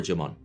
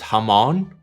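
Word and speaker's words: jamón: i prefer this over jamaan and jamon is fantastic i'm by no means devaluing it but i prefer this over jimmon it's pronounced hamon yeah it sure is except when i say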